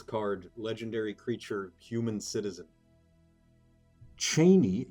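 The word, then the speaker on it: Chani: Cheney. Yes, that's how Frank Herbert pronounced it. Once you hear it, you can't unhear it.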